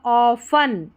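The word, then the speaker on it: often: 20 minutes every day ऑफन ठीक है टी यहां पर साइलेंट है तो यह हो गया ऑफन ऑफन अ चीव्स ठीक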